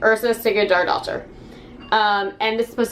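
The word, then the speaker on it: Yrsa Sigurðardóttir: back of the book uh her name is ursa sigurd our daughter according to the back of the book that's how you pronounce this name ursa sticky jar doctor um and this is supposed to just be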